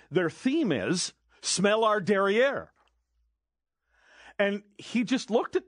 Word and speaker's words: derrière: And I said, their theme is smell our derriere. And he just looked at me. I said, you don't think that's funny? And then he gives me the correct pronunciation in French, apparently, derrière or whatever it was.